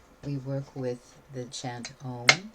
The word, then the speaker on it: Om: It's one word, O-M. But how it's worked with vocally in the mouth, it's you go through the vowels. Ah, O, So, ow is how it's actually pronounced when you're working with deep chant work.